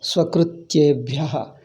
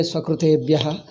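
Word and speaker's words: स्वकृत्येभ्यः: Swakrutyebhyah. Don't say Swakrutebhyah, or don't pronounce like Americans. Swakrutyebhyah.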